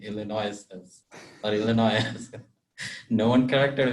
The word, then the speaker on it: Illinois: That's when I learned that Illinois, you don't pronounce the S in Illinois.